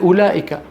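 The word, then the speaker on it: أولئك: ما زيدت فيه الواو في كلمات مكتوب فيها واو ولا احد ينطقها مثل اولئك اولئك على هدى من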